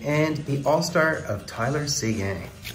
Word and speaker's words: Seguin: As well as the Knitsoff rookie and the all-star of Tyler Seguin. Another guy pronounced in the French manner.